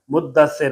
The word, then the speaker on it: مدثر: مزمل عربی نام ہے، مدثر مشدد ہے تو اچھے طریقے سے ادا کیا جائے۔ اسی طرح لوگوں سے